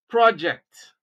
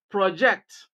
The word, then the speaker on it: project: have is a noun project Place stress on the second syllable and what you have is a verb project so it helps that